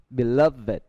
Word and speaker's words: beloved: Beloved. Sacred. Sacred. Hatred. Hatred. Hatred. Đó. Naked. Wicked, beloved, sacred, hatred. Đó là những cái được phát âm ed được phát âm là it.